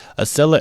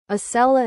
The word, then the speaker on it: Acela: I'm going to be boarding the 11:00 Asella Express train to Washington. Ah, for crying out loud, Google. Aella is spelled A C E L A.